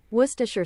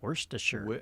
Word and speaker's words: Worcestershire: So, she kind of leaves the R the first R out, even.